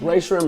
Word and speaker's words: Rae Sremmurd: "M-M-U-R-D" "Rae Sremmurd." "That's R-A-E" "Rae." "S-R-E" "Shrem." "M-M-U-R-D" "Rae Sremmurd."